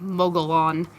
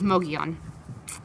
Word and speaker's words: Mogollon: Now, for those of you who have never heard of it and are having problems Googling it, it is spelled Mogollon, so like Mogollon, but it's Mogollon.